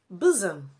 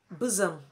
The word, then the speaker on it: bosom: you say Amen two bosom bosom not bosom bosom she is my bosom friend three Vision Vision not